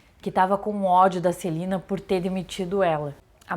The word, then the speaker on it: Selena: em homenagem a Celina a gente escreve Selena mas o nome dela é se pronuncia Celina Selena Quintanilha EA Selena